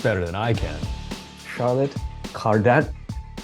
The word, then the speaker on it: Cardin: pronounced that properly yeah that was perfect I know that in English speaking worlds it's Carden and it's passable but I I'm trying